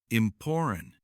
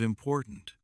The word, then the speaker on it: important: They say goo instead of good, fin instead of fine, imporan instead of important. This makes your speech unclear. To fix it, choose a short list of sentences. Read them slowly and focus only on the last sound of each word. Say good day with a strong D sound. Say fine weather with a full N sound. Say important meeting with a sharp T at the end of important.